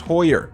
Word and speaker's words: Hoyer: in the comments by the way, that it's pronounced Hoyer.